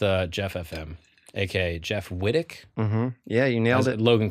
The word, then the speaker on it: Wittek: out here with uh Jeff FM AKA Jeff Whit yeah you nailed it Logan calls it which I think is rude what's the deal